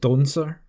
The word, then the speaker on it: dancer: There's a dancer trying to be a tree here, and his Galavidian dialect dancer is pronounced doncer.